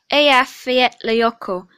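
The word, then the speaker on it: Eyjafjallajökull: it it's in iceland it's pronounced a field lyoko and it's an icelandic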